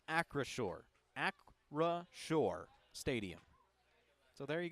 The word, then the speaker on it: Acrisure: I think this is the most frequent comment I've seen is, how do you say it? It is Acrisure.